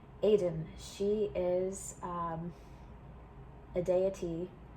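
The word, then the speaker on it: Étaín: one particular deity it Aiden I just pronounced her the way she spelt and that was a mistake Aiden she is um a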